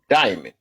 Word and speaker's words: Diamond: that one straight so Diamond if I said it right or diamon I don't want to say it wrong no you're good Diamond you good no diamond okay all right you call